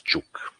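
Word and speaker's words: Ćuk: different uh spelling okay but the pronunciation is chuk okay so uh Professor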